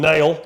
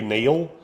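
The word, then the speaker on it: Nehl: Rusty for sure not it's spelled NE e h l but yeah I mean the the okay I I can't I guess it could be Neil but there's no a in it no I would say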